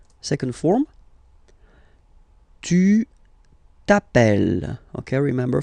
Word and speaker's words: tu t'appelles: All right, second form, tu t'appelles. Okay, remember, final s not pronounced. Tu t'appelles.